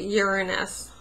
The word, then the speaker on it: Uranus: friend told me the school system is now pronouncing it Uranus so there's no anus in there that is so effing